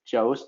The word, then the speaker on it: Joos: It's Joos, J-O-O-S. It's pronounced like Josie and the Pussycats without the E in the Pussycats, if you're really wondering, right?